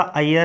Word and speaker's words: अय्यर: अय्यर, pronunciation इसका अय्यर है।